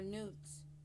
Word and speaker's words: Nut: Live your dreams by day and call on this goddess to watch over you with nuts protection or nudes, however you want to pronounce it. I I pronounce it nut.